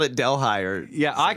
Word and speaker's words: Delhi: So like New Delhi, has a totally inappropriate H in it. That if it was not in there, I would say it correctly.